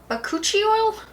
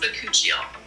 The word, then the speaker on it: bakuchiol: say it's formulated with something called bakuchi oil? That's not right. It's pronounced bakuchiol. There we go, that's how you say it.